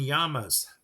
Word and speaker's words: llama: I ask you again why do we call them llamas okay I digress chickens